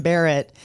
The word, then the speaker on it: Barrett: go to google and just write reverend barrett oh and it's b-a-r-r-e-t-t yes just in case i was pronouncing it terribly no you did well sometimes